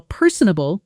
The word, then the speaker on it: personable: Pronunciation per sunable. Stress on the first syllable.